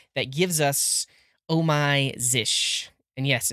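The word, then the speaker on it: Zsh: is the one that gives us oh my zish. And yes, it's pronounced zish.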